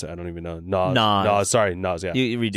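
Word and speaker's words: Noz: and Brooklyn Fair, and he worked at Sushi Nose. And like, is that how you pronounce it? I don't even know. Naz.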